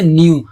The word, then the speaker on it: knew: আর এখানেও দেখো সেই একই সেম ভাবে, হ্যাঁ, KNEW থাকা সত্ত্বেও আমরা শুধু উচ্চারণ করছি কি নিউ, NEW নিউ, তাহলে কে এর উচ্চারণ এখানে সাইলেন্ট আছে।